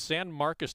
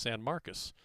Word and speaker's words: San Marcos: And I think it is pronounced San Marcos in California, but in Texas it's San Marcos.